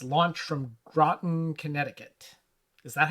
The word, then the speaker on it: Groton: It's launched from Groton, Connecticut. Is that how you say that? Groton or Groton? Groton? I think Groton sounds about right. Groton sounds like rotten.